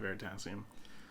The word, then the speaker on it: Veritasium: Veritasium? Yeah, Veritasium.